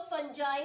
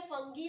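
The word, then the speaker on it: fungi: Third type is called the फंगी, और इसे कुछ लोग फंजाई भी पढ़ते हैं, फंगी भी बोलते हैं, दोनों ही प्रोनाउंस किया जाता है, फंजाई भी और फंगी भी.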